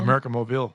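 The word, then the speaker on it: América Móvil: I think most people know of is the American Moville it's did I say that right mobile americ mobile is how they pronounce it it's uh ticker is AMX and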